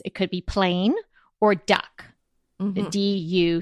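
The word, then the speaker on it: doek: word duck comes from the Dutch word for cloth which is duck okay I just I spoke Dutch but you spell it d o e k do do I think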